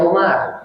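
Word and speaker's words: عمر: Makanya alamat jarnya kan harusnya an Umari, tapi dibaca Umar karena dia adalah isim ghair munsharif, alamat jarnya dengan fathah. Jadi nggak dibaca an Umari, tapi an Umar.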